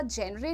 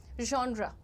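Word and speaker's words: genre: बट इट is completely natural but इसको जॉन्रा जेरे नहीं बोलेंगे। You will call it जॉन्रा ज में श मिक्स करना है आपको कहना है जॉन्रा ठीक है नेक्स्ट ईटी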